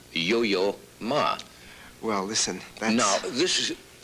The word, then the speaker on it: Yo-Yo Ma: both so and uh i noticed when you pronounced my name first it sounded yo-yo ma it's it's it's a terrible name to live with and it's you know but i've you put it together like one word or yo yo ma